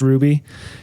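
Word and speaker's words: RWBY: that's too bad and then I tried watching Ruby spelled rwb y but they say it is pronounced Ruby it's an American show but they it's the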